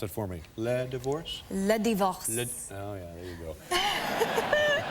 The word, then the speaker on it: Le Divorce: all right and am I saying it right pronounce it for me Le divorce Le divorce oh yeah there you go take a look